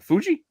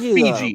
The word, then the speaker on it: Fuji: right team what yeah it's not Fiji it's Fuji it's a you like Mount Fuji Fiji is the water